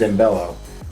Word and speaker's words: Zambello: Did I say it right? That is correct. Zambello. Like Zamboni, but bello.